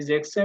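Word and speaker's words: sechzehn: মুখস্ত করতে হবে ভাবে 16 এবং 17 কে ডিফারেন্ট ওয়াইতে উচ্চারণ করে অন্যগুলাকে যেরকম ফুনফের সাথে সেন যুক্ত হয়ে ফুনসেন হইছে এই জেক্সেন এবং জিপসেনের ক্ষেত্রে ডিফারেন্ট জেক্সেনের এস বাদ যাবে আর এখানে জি বেনের ই এন বাদ গিয়ে তারপরে হলো সেন যুক্ত হবে তখন হবে 16 17 জেক্সেন জিপসেন আর বাকিগুলা দেখেন আখকে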